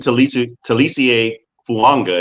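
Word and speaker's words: Taliese Fuaga: Getting Talisie Fuanga is how you pronounce his name.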